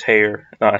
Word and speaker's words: Heyer: I don't think so I just realized that I was saying Heather's name wrong it's I think it's hair dye hey my bad I'm